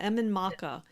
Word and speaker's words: Emain Macha: How do you pronounce it? Emain Macha. Emain Macha.